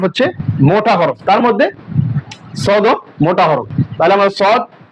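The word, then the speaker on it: ص: তার মধ্যে সদ মোটা হরফ। তাহলে আমরা সদ হরফ উচ্চারণ করার সময় মোটা করব।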